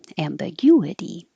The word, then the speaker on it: ambiguity: drastically ambiguity ambiguity but make sure I put a w there to remind you to round your lips so and the you D ambiguity um that's the noun